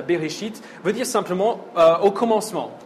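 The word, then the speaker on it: בראשית: Le titre hébreu du livre, qu'on prononce Bereshit, veut dire simplement au commencement, qui se sert des 2 premiers mots du livre.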